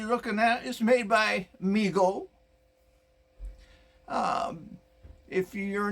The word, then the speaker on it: Mego: the 70s and 60s and stuff and it's pronounced migo started by his father david abrams in 1954